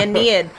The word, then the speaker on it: Aeneid: And then like, Virgil's Aeneid or something. You're like, the Aeneid. Aeneid? And I'm just like, shut up. There's an I in there. The Aeneid.